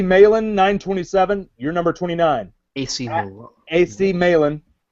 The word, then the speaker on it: Malin: AC Malin. AC Malin. I don't say Milan. It's not spelled like Milan.